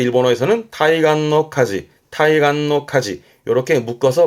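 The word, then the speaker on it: 対岸: 대안, 발음은 타이간, 타이간.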